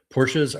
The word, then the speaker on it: Porsche: Most people say yeah, Porsche, but yeah. having Porsche. come from a very German family, yes, you got to pronounce the E on the end.